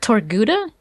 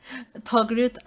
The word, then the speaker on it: Togruta: I'm so afraid of pronouncing it. Is it Torguda? Togruta.